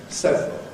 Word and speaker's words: several: Same is true with what used to be several. It's now, nowadays, pronounced as a 2-syllable word, several.